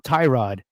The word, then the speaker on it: Tyrod: playing, they really were questioning about how to pronounce his name, it's been Tyrod, and they were saying that people were calling him a different name.